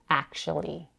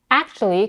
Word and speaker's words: actually: she reduces the word actually actually can be pronounced in two ways as a four syllable word actually or as a three syllable word actually the consonant in